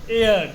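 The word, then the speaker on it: heir: এয়ার, এইচ ই আই আর। এয়ার মানে উত্তরাধিকারী, ছেলে পুলে গোপোলা পান।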